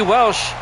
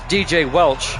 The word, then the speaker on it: Welch: AC Welsh out to the 48 yd line. A 17 yd gain. Actually, it's DJ Welch. I mispronounced his name.